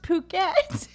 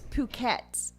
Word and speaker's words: Phuket: I just like okay I think it's supposed to be pronounced puket oh but it is